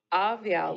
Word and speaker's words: Awiao: Awiao, like a V.